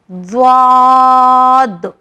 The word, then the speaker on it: ضاد: ضاد, ضاد. یہ واحد ایک ایسا لیٹر ہے جس کی مخرج سب سے الگ ہے. یہ زبان کے آخری حصے سے نکلتا ہے, زبان کے کنارے سے